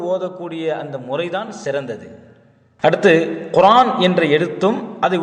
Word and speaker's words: குர்ஆன்: அடுத்து குர்ஆன் என்ற எழுத்தும் அதை உச்சரிக்கக்கூடிய முறையும். தமிழில் குர்ஆன் அந்த ஆவண்ணா வரணும். இதை உச்சரிக்கக்கூடிய முறையில் குர்ஆன் என்று தான் உச்சரிக்கணும். குர்ஆன் என்றோ அல்லது குர்ஆன் என்றோ உச்சரிப்பது தவறு.